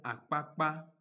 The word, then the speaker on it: Akpakpa: Et en Nadia, elle existe et se prononce comme dans les mots Adja, Akpakpa, qui est nom d'une ville au Bénin, et Ekpo, qui veut dire bâton.